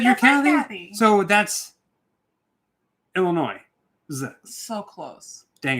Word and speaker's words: Illinois: It is not pronounced with an S.